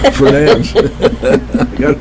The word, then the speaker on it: Fernandes: Marsha Fernandes, I almost said the D word again. Fernandes.